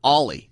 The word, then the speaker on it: Oli: funny you should say that I called him oie Thompson because that's how his name is spelled o l y Thompson all night on